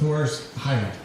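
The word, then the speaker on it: Horace Heidt: I guess his very first appearance on TV was on the Swift Show Wagon with Horus Height. Did I say it right? That's right. Good. In the American way.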